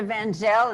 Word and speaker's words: Van Zel: This is Jenna Van Zel. Is that the way you pronounce it, Jenna? Yes. Yes.